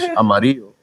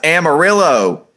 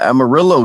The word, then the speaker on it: amarillo: I hate Mexicans in Texas that say, "Yeah, I'm from Amarillo," but you tell them "Yo, what color is this crayon in Spanish?" Amarillo. Like what? Nah, it's Amarillo. Yeah, Amarillo, dog.